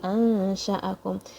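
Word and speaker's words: أنشأكم: So there's a fatha on sheen and there's a fatha on hamza. Don't blend them together. Don't say ansha'akum. Don't say it like that.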